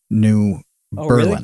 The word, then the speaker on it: New Berlin: Also, New Berlin, which is not Berlin, it is New Berlin.